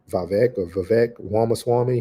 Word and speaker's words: Vivek Ramaswamy: by his name is, I say it wrong every time, but it's Vivek Ramaswamy, who is going to be running for president and step down.